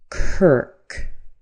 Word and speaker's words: Kirk: car, far, mark, and k r k has a basic sound. We can write it like this. You might see it in dictionaries written like this. But what this is is an as you would say sir bird. The name is Kirk. Kirk.